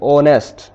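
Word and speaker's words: honest: जाएगा यह ऑनेस्ट नहीं है इसे हम पढ़ेंगे ऑनेस्ट यहां पे साइलेंट है हम मोस्टली छोटी ऐसी बहुत सी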